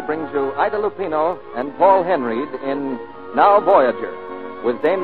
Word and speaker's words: Paul Henreid: He pronounces his name Paul Henreid.